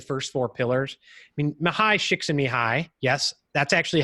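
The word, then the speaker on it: Csikszentmihalyi: effect of the first four pillars I mean mahai shakes in me hi yes that's actually how you pronounce it and usually I have to have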